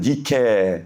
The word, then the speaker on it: Nike: 나이키. 이 나이키. 원래 여러분 이게 헬라어로는 니케 돼 있는데 영어식 발음으로는 나이키.